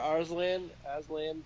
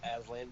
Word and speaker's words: Arslan: However you say it, Arslan, not Aslan, but Arslan, I guess.